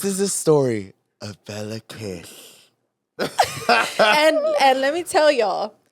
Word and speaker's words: Kiss: This is a story of Bela Kish. and let me tell y'all, it sounds like kiss, but it's pronounced kish.